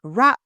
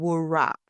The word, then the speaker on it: wrap: Business situations often include words with silent Ws, like wrap, pronounced wrap and not wrap.